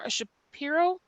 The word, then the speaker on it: Shapiro: The next was 7.02, which is the resolution for the Shapiro. That's how you pronounce it, Shapiro farm lease.